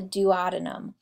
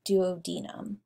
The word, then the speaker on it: duodenum: looks like a c that is the duodenum or you could pronounce it duodenum either one and the we'll talk